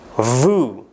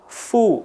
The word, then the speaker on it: vous: Dalam bahasa Perancis vous. Ya. Vous. Huruf S di akhir tidak diucapkan. Dan tolong perhatikan pengucapan huruf V yang benar. Para penutur berbahasa Indonesia sering melakukan kesalahan dengan mengucapkan fu.